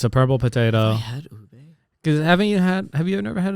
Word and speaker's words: ube: Ube, is that how you say it? Yeah.